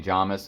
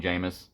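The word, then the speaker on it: Jamis: to part two and everybody's saying jamas and I'm still trying to get out of the habit of saying jamus it's it's either one whatever but I'm it's supposed to be jamas it's jamas let's go with jamas okay sorry shutting up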